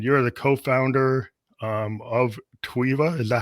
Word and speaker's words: TWEVA: to you and you're the co-founder um of TWA is that how you pronounced it yes yes the co-founder of TWA